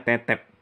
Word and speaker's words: Tetep: t-tep ya pakai paling jadi bacanya t-tep bukan tetep Nah kalau di parade